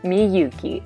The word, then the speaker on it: Miyuki: And she emailed me back, it's M-E hyphen Y-O-U hyphen K-E-Y, Miyuki. Okay, perfect, I get it. Thank you so much. So I'm glad we're friends now, Miyuki, and this is just